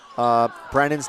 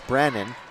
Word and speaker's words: Brannon: He goes, "You're pronouncing Brennan's name wrong." And I said, I know it's not Brennan, it's Brannon. And he's like, "You're saying Brennan." And I'm like, maybe it's some accent that I have, Bruce, but so I